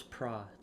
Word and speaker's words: Prates: Carlos Prates. Prates. Okay, yeah, I butchered it before the pod, just so you guys know.